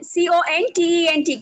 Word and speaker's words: content: And if I put the stress on the first syllable, the next slide. No, Nisha, then, if I put it on the first syllable, C-O-N-T-E-N-T, can you see the spelling? Yeah. Okay, it means subject matter. So content means subject matter and being content means satisfied or happy.